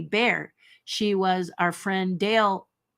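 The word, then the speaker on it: Baer: not to be missed Jane's last name is pronounced phonetically bear she was our friend Dale bases that's bare and his wife she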